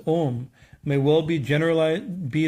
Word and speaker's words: Om: man dome only because the three letters a you an mmm pronouncing combination as ohm may well be generalized